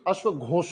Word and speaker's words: अश्वघोष: spelling ये है pronunciation अश्वघोष होगा अब तुम बोलोगे सर स्पेलिंग य एस के बाद एच आना चाहिए एस के बाद एच आना चाहिए स्पेलिंग य है प्रशन अश्वघोष और रूलर है इस